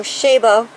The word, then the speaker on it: Chabaud: foliage here and the i believe it's pronounced oh shabo series has a lot